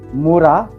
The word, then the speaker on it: Mura: Muda, Mura, Muri. You know, those are 3 words starting from mu, mu, mu.